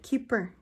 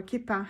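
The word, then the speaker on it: Kipper: So what I've got here is a Keeper, or Kippa as we say that in Australia, Keeper deck by Alexander Mazurek.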